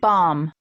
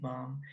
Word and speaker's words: bomb: Atomic bomb. Atomic bomb. Something that I have to tell you about this is that the pronunciation doesn't include the ending B sound.